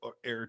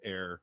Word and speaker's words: Err: If you can think of another perfect place for Air to have a home, make sure you let